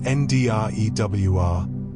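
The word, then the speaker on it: drua: The Druer pronounced NDWR was Fiji's double hold sailing canoe and it represents the pinnacle of Pacific maritime engineering.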